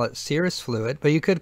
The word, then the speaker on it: serous: It's called, well, serous fluid, and watch out calling it serous fluid. A lot of students would do that. A lot of students would try to spell it that way. There is no I in there. It's not serous fluid, even though it is pretty serious. It's referred to as serous.